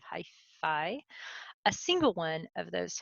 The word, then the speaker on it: hyphae: plural these are called hyphae. Um, in Latin that should be pronounced hyphae, but that sounds like stereo equipment, so everybody I've ever heard pronounce that calls hyphae instead of hyphae.